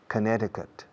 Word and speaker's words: Connecticut: La C en medio no se pronuncia. Connecticut.